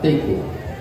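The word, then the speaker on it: תיקו: Et Teiko, ça s'écrit Tav Yud Kuf Vav, Teiko.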